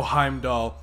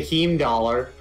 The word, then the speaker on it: Heimdall: outskirts of five doll oh heimdall okay yeah that's how you pronounce it that's what i said you didn't say heme dollar who would say that